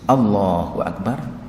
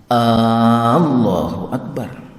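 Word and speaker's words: الله أكبر: Di sana saya baca di dalam kitab Adzkar disebutkan jangan sampai memanjangkan huruf A-nya sehingga Allahu Akbar. Itu adalah salah.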